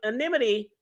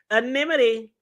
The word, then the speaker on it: anonymity: promise the witnesses an animity? Oh, y'all do y'all see I said it right. Anonymity. I've been practicing. I would say animodity. Anidity. Anommy. I got it now.